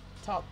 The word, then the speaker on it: talk: Un pequeño tip de pronunciación. Esa L no suena. Ustedes no dicen walk. No, se dicen walk. Pasa lo mismo con el verbo hablar. Talk. No es talk. No es talk. Talk, walk. Okay.